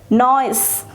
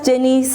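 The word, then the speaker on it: gneisses: e s it is pronounce it as noise don't read it as genius it's not no it's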